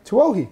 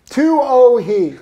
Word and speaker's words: Tuohey: Tuohey. No! Although everyone calls me Tuohey though. Yeah, fair, what is it? Tuohey. Like Ratatouille. Tuohey, okay?